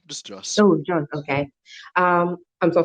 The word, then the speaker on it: Jos: How do you pronounce his name? Jose? Who's? No, just Joss.